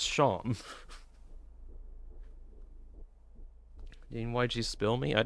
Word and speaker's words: Seam: is that it it spelled seam but pronounced sham you know like sha